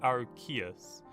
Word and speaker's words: Arceus: It's actually the proper pronunciation of Arceus is Arceus. The reason why they don't have Arceus is because in the UK, an Arse is a butt, A-R-S-E.